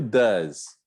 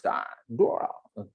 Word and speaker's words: does: E o does? Pronuncia does. Ok? Não invente, não. Que alguns estudantes ficam inventando, né? Does, does, does. Não faço, não. É does, né? É um A como lâmpada. Does.